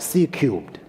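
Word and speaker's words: C³: we've called it csir C to the power 3 pronounced C cubed the three in the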